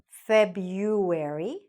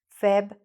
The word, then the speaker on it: February: So, this could be said, pronounced as February, okay? February. Or it could be pronounced with the R sound, February, okay?